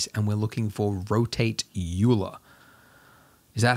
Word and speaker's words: Euler: me it's got an e and a u and an l and an er you'll uh no euler euler all right so we